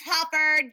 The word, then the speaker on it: Hufford: And she's like, yeah, by the way, it's HUFFORD, just saying.